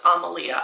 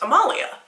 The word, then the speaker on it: Amalia: There's a little girl in one of my child's classes, and her name is pronounced Amalia. I would have seen her name and pronounced Amalia.